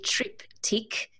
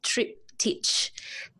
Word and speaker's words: triptych: So some people say triptych, and yes, some people say triptych, and you know it's spelled triptych, and you will get two different opinions, no matter who you ask.